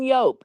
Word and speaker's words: Joep: And William keeps on calling him Yope, and I'm like, dude, his name is Yope, but it's spelled Joep.